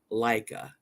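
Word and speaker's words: Laika: Maya got it Leica no it was L it's spelled l a i k a Leica the dog was in space he was Ace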